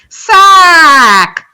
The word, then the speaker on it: sack: A is sack, sack. And B, sock, saw. They're two completely different vowel sounds.